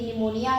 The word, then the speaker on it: pneumonia: आज की क्लास में हम लोग निमोनिया डिजीज यानी कि निमोनिया रोग के बारे में पढ़ेंगे। अगर हम देखें तो निमोनिया में पी क्या है? साइलेंट।